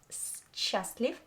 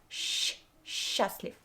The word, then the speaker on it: счастлив: Mind how I pronounce the word счастлив. Not счастлив, but счастлив.